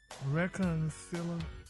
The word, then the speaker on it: reconciliatory: Reconciliatory? Yeah. Reconciliatory? Reconciliatory? You missed one syllable, but reconciliatory? There you go. I didn't see no L. But where you see cilia? You just said it.